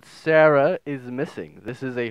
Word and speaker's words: Sara: how you pronounce it, it's Sara, so Sara. Not Sarah, not sure, doesn't really matter anyway.